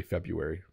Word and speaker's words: February: say that month they will say February even though there's an R there it's kind of like um we just decided it was too hard to say the R so we say February penguin I don't know